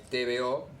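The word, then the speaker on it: TBO: 1917 esta revista es TVO, TV larga O, y a partir de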